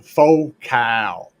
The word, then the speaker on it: Focal: It's a faux cow. That's what I said, ain't it? Did I not say faux cow? Or are you trying to say faux cool? It's spelled focal, damn it.